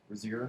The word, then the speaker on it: Rozier: Emerson's, how do you pronounce R-O-Z-I-E-R? Rozier? Rozier? Yeah, that sounds good. Okay, Rozier.